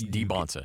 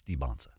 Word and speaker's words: Dybantsa: very sheep is because he's been saying it wrong Mr I I don't mess up people's names yeah and now he knows it's he knows it's debons yeah it's debons okay um but that is